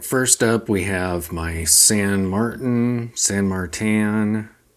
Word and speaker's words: San Martin: up we have my San Martin San Martin I've always pronounced it San marttin but however you pronounce it this is an explore